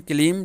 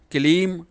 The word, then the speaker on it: क्लीं: यदि आप इसे एंग ह्रींग क्लीम बोलते हैं तो ये गलत हो जाता है। यदि आप इसे एंग ह्रीं क्लींग चामुंडाई विच्चे इस तरीके से बोलेंगे तो ये सही होगा।